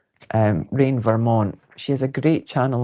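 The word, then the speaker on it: Reign Vermont: last Saturday's live and it's spelled rain as in raining monarch R E I G N as in rain as in weather. Um, Rain Vermont.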